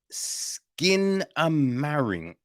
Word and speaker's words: Skinamarink: joint right it is called um skin a marink I feel that's how it's pronounced right it is written